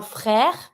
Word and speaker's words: frère: Un frère. I pronounce everything, but not my last E because it's mute. There's no accent on it, so I'm not going to pronounce it.